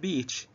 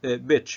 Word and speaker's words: beach: word beach, you know, please don't pronounce it bitch, okay? Because a lot of Arab speakers of English shorten this vowel and pronounce beach as bitch, okay? So please, it's a completely different meaning, okay?